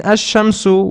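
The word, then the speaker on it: الشمس: kamaru means the moon in ash shamsu we do not pronounce the lam and in el camaro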